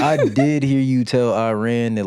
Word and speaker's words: Iran: You're saying it wrong. It's Iran. Cuz during the World Cup, one of the journalists said, "I ran." And the dude was like, "You're not going to sit up here and mispronounce my country."